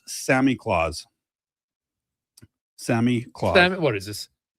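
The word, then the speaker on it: Samichlaus: So it's pronounced Sammy Claus.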